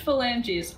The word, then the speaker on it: phalanges: It's pronounced phalanges, and that is because Yeah. phalanges are the bones in your fingers.